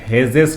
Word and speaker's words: Hess's: important है इट्स a hedges law अब कुछ टीचर इसे हैज लॉ बोलते हैं कुछ टीचर इसे हेजेस लॉ बोलते हैं बोलिए कुछ भी स्पेलिंग बराबर लिखिए है ना चलिए फिर